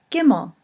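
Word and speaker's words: גימל: The third letter is the letter Gimel, and it is pronounced with a hard G, G.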